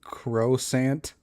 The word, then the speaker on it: croissant: As a proud hater of the French language, it's croissant.